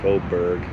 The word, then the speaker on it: Faubourg: Faubourg, like iceberg.